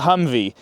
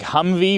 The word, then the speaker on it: Humvee: High mobility multi-purpose wheeled vehicle or the Humvey. Now, on my videos, I usually spell it H u M V E cuz it sounds like Humvey when you look it